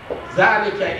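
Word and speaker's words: ذلك: Zalika is Zal, Elif, no Elif in that way of writing in Quran. Zal, Lam, Ka, pronunciation is Zalika, means this and that, it is masculine, it is muzakkar.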